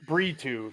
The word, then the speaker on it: Brito: It's Brito.